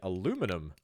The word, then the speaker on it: aluminum: aluminium or indeed aluminum depending on how you say it.